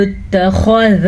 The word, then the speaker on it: اتَّخَذَ: پر پڑھیں گے۔ وَقَالُوا اتَّخَذَ اللَّهُ، خا کو بھی پر پڑھنا ہے، لفظ اللہ کو بھی